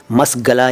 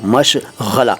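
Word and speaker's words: मशग़ला: इसके बाद मश गला उच्चारण पर ध्यान दीजिए मस गला या मश गला नहीं बोल रहा हूं मैं बोल रहा हूं मश गला गला ग ग मश गला अरबी से आया हुआ शब्द है इसके बहुत सारे मतलब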